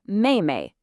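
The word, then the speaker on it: 妹妹: And finally, to complete our set for a younger sister, we have mayay. Mayay. And we're back to that sharp falling fourth tone again.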